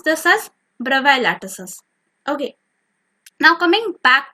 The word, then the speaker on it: Bravais: So while I searched over Google, I got to know that the pronunciation is actually Bravais. The S is silent.